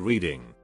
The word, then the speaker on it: Reading: dyslexia association is situated in reading pronounced red dying to those unaware also pronounced red dying to those who are aware dozens of americans die